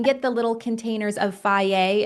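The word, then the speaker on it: Fage: And you can get the little containers of fier. It's spelled I think f a ge.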